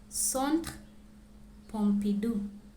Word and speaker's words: Centre Pompidou: La Tour Eiffel, le musée du Louvre, la Seine, la cathédrale Notre-Dame, Jardin du Luxembourg, Arc de Triomphe, Montmartre et Sacré-Cœur, Centre Pompidou.